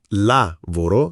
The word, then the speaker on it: lavoro: Lavoro. Non love come in inglese, ma con la a aperta.